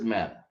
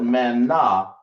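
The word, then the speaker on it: Manna: right tell me what Mana is or Mana thought I right it down but people spell it Mana it's really man that's how it's pronounced okay but anyway I'll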